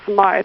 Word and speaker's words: Smith: Well, and she pronounces it Smythe.